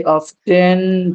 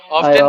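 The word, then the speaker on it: often: आई ऑफेन take a बथ। ऑफेन। ऑप्टेन भी ठीक है। हां। ऑफन भी कुछ लोग बोलते हैं अमेरिकन ब्रिटिश इंग्लिश का फर्क है। ज्यादातर ऑफेन होता है।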